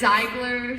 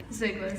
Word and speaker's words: Ziegler: Ziegler, but it's Ziegler, Ziegler. Ziegler, like zigzag.